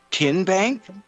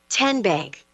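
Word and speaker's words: TN Bank: How do you say the name? Kihen Bank. Nope. Tin Bank. Uh-uh. So, what is it? Tenbank. 10 as in Tennessee.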